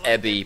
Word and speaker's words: Ebi: in giant rainbow letters it's pronounced ebie because it means shrimp every year and people still